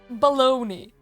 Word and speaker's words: bologna: Like, why do you pronounce Bologna? Why do you pronounce Bologna as baloney?